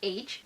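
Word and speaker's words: Aech: the character that played H, I thought this person's name was literally spelled with the letter H, but I just learned that it's spelled A-E-C-H, and I'm shook.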